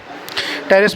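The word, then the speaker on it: Pteris: Lycopodium, azolla, equisetum या फिर टेरिस। टेरिस में पी साइलेंट है।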